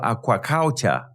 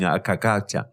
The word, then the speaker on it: aquaculture: know how to spell aquaculture for goodness sake I couldn't even pronounce it properly up to now I keep saying akakacha it's Aqua Culture farming in water okay as opposed to